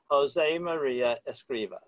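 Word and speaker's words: Josemaría Escrivá: and let me see if I've got an pronouncing his name right Josemaria Escriva perfect you were actually with him for a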